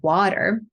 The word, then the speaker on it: water: working on my pronunciation, I had a lot of issues with the flap T. I was not able to get it, not at all. And then I was trying to pronounce the word water. And then I did something like, I started from water. That was my pronunciation. And then I went into water with like a true D sound, water.